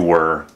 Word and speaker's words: we're: It might look like this word, but remember that this is pronounced we're, and this is pronounced were.